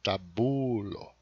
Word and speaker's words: tabulo: Em Esperanto, por causa que o acento é sempre na penúltima sílaba, é tabulo.